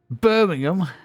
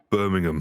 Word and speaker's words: Birmingham: Bing name nice Birmingham Birmingham Birmingham Birmingham nobody says ham Birmingham Birmingham it's not hard it's